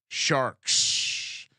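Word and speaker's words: Sharx: The Sharks is spelled S-H-A-R-X. Sharks.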